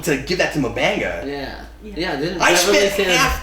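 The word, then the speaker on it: M'Benga: finally toward the end manga yes it is manga what we really needed was for another character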